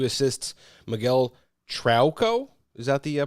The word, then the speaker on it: Trauco: Miguel Trauco, is that the pronunciation?